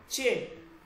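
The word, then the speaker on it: چ: আলিফ বে পে সে তে তে সে জিম চে এইটা কি চে খেয়াল করেন চে ওকে চে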